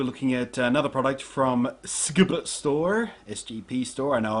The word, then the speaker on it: SGP: Today we're looking at another product from SGP Store, SGP Store. I know I've made the joke about mispronouncing their name before by saying it phonetically instead of the acronymical way.